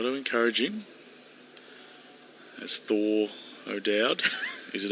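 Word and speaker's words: O'Dowd: but we got to encourage him that's Thor odad is it odad yes it is that's not an afrian he a it's pronounced o we're going to get into trouble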